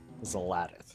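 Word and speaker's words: Xal'atath: It's Zaladith, actually. Zaladith is the proper pronunciation.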